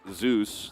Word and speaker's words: Zeus: He just pronounced differently in Korea. And we also had a KT roster support called Zeus, which is why we call him Zeus.